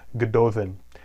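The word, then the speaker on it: Gododdin: plum the ego then the double D's there are pronounced as a th sound good Dothan and this was dated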